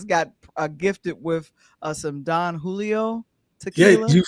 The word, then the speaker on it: Don Julio: gifted with uh some Don Julio tequila. You finally said it right cuz last night you said it wrong. Jay Jay, she was like Don Hoo.